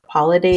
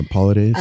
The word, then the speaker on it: Paulides: I think it's like Paulides is how you say it. Yeah, Paulides.